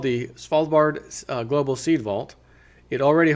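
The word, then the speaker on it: Svalbard: of the most vital crops from Extinction uh falb spard that's how you pronounce that officially called The spal Bard Global seed Vault it already holds close to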